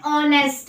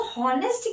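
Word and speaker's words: honest: Okay, सो बच्चों, प्यारे बच्चों, द एच is silent word. Okay, यहाँ पर इस स्पेलिंग में एच जो है वो एक साइलेंट वर्ड है और ऑनेस्ट इसको पढ़ा जाएगा, ना कि हॉनेस्ट।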